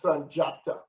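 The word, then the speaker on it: Sundiata: The D in Senegalese language, it is pronounced like a J. It's Sanjata.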